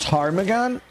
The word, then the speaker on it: ptarmigan: Pronounced Ptarmigan? What? I thought it started with a P.